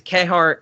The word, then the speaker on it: Kehaar: ha or P har I think it's K Hart pronounced in the movie I pronounce it ki har when I read the